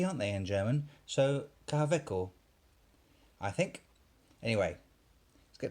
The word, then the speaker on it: Kaweco: Now, the reason I'm pronouncing this kind of funny is because Kaweco is a German company, hence the introduction, which I had to look up, by the way. I can't speak German. And because it's a Kaweco with a W, W's a V, aren't they, in German?